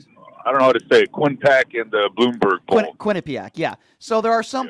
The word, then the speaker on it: Quinnipiac: Quinnipiac, yeah.